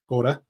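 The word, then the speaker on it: Škoda: to the scod launch scod as my colleague Li likes to wind me up that I say it correctly like my for my Czech friends and family H SC brought me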